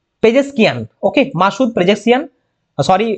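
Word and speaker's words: پزشکیان: বি হবে সঠিক উত্তর পরবর্তী প্রশ্ন সম্প্রতি Masud পেজেসিয়ান Pezeshkian okay Masud পেজেসিয়ান sorry to pronunciation wrongly Masud Pezeshkian কোন দেশের রাষ্ট্রপতি নির্বাচিত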